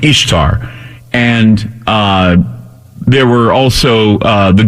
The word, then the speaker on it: Ishtar: And I did a search on the internet for burning churches in Ishtar, Ishtar, I-S-H-T-A-R, pronounced Easter, or like Easter, okay?